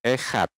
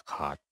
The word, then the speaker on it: Echad: Dia bilang Yahweh Chad, Yahweh Chad, Yahweh Chad. Nah, dia sebutnya Chad, Yahweh Chad. Dia nggak bilang Yahweh Echad, tapi dia bilang Yahweh Chad, Yahweh Chad.